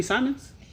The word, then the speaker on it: Simons: I was like, oh, okay, it's Simons.